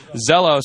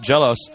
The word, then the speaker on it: XellOs: our first match up zos and Tempest Zeos or a lot of the Koreans pronounce it jalos um is really um